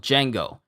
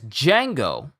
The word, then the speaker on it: Django: checking yeah okay so officially his name is Django spelled Django with a d is spelled Django with a D in front uh for the viz four kids and FUNimation Subs but the FUNimation dub is the one that calls him Django without the D so that's the difference